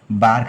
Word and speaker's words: BARC: बार्क ने बनाया था, BARK, बार्क। बार्क की स्पेलिंग आप फिर से देखो, बार्क मतलब कि BARC, और इसका फुल फॉर्म आप ध्यान रखना।